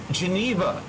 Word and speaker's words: Geneva: it's pronounced ah oh geneva like the geneva accord okay okay so your